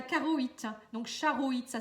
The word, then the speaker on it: charoïte: Et la pierre qui pourrait vous aider c'est la charotte. Non, non c'est pas la charotte, c'est la charoïte.